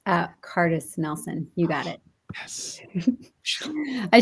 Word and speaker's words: Kardas-Nelson: It's not phonetic. So I appreciate I didn't know if it was like a special pronoun. No, it's Kadas. The R is silent.